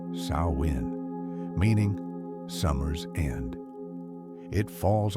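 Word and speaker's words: Samhain: This is Samhane, pronounced sawin, meaning summer's end.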